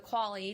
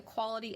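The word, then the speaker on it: QALE: life and calculate a quality adjusted life expectancy so q-a-l-e which i haven't figured out another way of pronouncing this other than quali so we have quali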